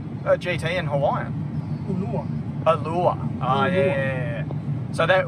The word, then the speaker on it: ulua: Ulua.